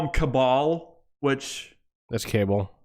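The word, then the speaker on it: Kabal: Cable, or they call him Cabal, which that's Cable. It's kind of Cabal, because Cable is spelled with a C. Cabal is spelled with a K.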